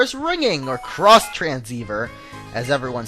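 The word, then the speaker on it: Xtransceiver: with all that the ex transceiver is ringing or cross transceiver as everyone says it's pronounced I don't know why they would do that it's like Digimon cross wars being spelled X Wars so I don't know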